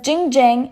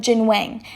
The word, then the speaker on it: Jin Wang: miss pronounces his name she says Jing Jiang instead of Jing Wang and corrects herself only